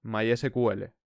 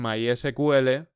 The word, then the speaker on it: MySQL: En el siguiente capítulo empezaremos a instalar uno, en concreto MySQL, mediante el cual haremos una gran parte de las prácticas iniciales del curso.